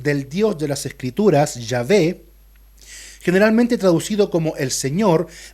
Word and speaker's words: Yahvé: los teólogos, ¿verdad?, que su pronunciación más próxima y la más aceptada y probablemente la más cercana sea Yahvé, Yahweh en algunos otros idiomas, pero en español sería Yahvé.